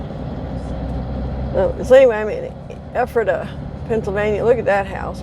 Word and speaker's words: Ephrata: lady at the hotel last night she says ephrata so go figure i was way off i'm